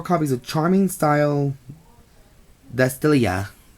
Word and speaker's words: Astesice: And 4 copies of Charming Style Astesice. Because I think the T is silent on this one.